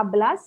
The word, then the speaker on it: hablas: ये जो एच जो है आचे, लेकिन इसको प्रोनाउंस नहीं करते. तो इसलिए hablas español है ना, सुनाई दिया? hablas without the एच.